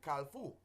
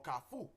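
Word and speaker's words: kafou: you know um I had an experience with calfu or kafu in Creole a kafu is the uh word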